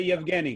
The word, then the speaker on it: Yevgeny: No, say Yevgeny, Kyle. You can pronounce it. Yevgeny, sorry. There you go. You did it.